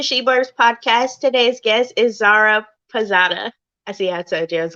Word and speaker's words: Zaira Pirzada: welcome back to shebarb's podcast today's guest is zara posada i see outside i was going to pronounce it wrong thank you so much for